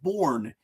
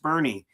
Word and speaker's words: Bourne: I want to go to the town of Bourne. And then you get out there and they say, no, it's Bernie. It's pronounced Bernie. As a Yankee fan, that was easy to remember because I just thought about Bernie Williams.